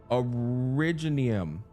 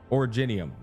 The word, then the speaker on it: originium: Originium. I'm saying originium. I'm a fucking idiot. Originium is how it's pronounced, chat.